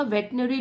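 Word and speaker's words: veterinary: आपने ये सुना होगा वेटनरी डॉक्टर ठीक है स्पेलिंग देख लीजिए वेटनरी डॉक्टर बोलते हैं स्पेलिंग लेकिन यह है वेटरिनरी इस तरीके से स्पेलिंग होती है हम बोलते हैं वेटनरी डॉक्टर जो पशु के चिकित्सक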